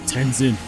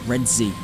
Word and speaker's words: Redzy: I'm not Tenzin. It's pronounced Redzy. They don't even sound close.